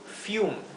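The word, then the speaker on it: fume: es otro ejemplo fium fium es una sola sílaba sí fium Y es una sílaba en la última sílaba que es la sílaba única tenemos la u más una consonante y termina en la letra e por lo tanto el sonido u de la u fium fium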